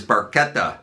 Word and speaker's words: Barchetta: Now then, Red Barchetta, that is Barchetta and not Barchetta, by the way, as Geddy erroneously pronounced it the one time he mentions it within the track.